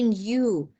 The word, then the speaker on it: knew: what is it mean likely they knew don't pronounce k here okay knew mhm became